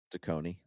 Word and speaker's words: Taccone: Tacony.